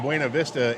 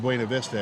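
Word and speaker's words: Buena Vista: I'm saying that because you have a town called Bueno Vista and it's not said or pronounced Bua Vista.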